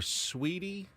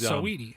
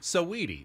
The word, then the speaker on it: Saweetie: Can anyone tell me about, I don't know if it's pronounced Saweetie or Sweetie? She was Saweetie. Saweetie.